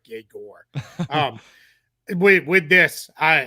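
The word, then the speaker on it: Egor: his name is Yes, it is Jaor is how you say his first name. Uh, yeah, I at first I thought it was like Eigor, too. I guess I like, well, he's Russian. All right, so it's Igor, right? But it's it's Jerger is how you say it. So, yeah, kind of like Jagger Meister, but more like Jagore.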